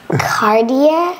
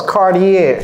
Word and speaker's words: Cartier: not sure so Cody can you help us pronounce this cardier okay yeah pretty close cardier cardier Okay cardier okay so cardier cardier so